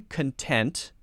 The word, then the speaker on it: content: okay you go I'm content content content adjectives content to sit here and read a book all day so there we're stressing the second syllable okay syllables the beat